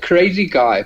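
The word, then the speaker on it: CARAZY_GUY: It's Crazy Guy, but it's spelled CARAZY and then _GUY.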